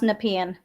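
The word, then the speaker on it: Nepean: It's pronounced Nepian.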